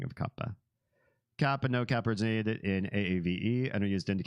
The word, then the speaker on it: Kappa: from the trickster Kappa from Japanese Kappa would be the proper pronunciation um let me catch